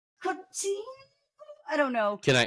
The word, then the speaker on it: Coutinho: He's a brilliant footballer, and I believe it's pronounced Coutinho. I don't know. Can I do it? Yeah. It's actually Philippe, not Felipe. It's Philippe Coutinho. Coutinho.